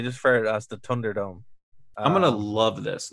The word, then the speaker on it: Thunderdome: it's fair it's fair it's more of a d I'm just I'm gonna